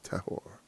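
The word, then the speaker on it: טָהֹר: to look at it tahor or tahor or tah oh no tahor is that I can't is that an e yeah tahor it's it's like a short a uh Purity pureness wow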